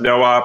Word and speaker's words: noop: noop or noah um it's supposed to be pronounced noah but at braintree we always pronounced it noop so you're going to